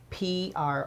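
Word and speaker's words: Proulx: is an expert uh pianist uh named John PR and he he he he spells his name p r o u LX but it's pronounced PR and he is a classically trained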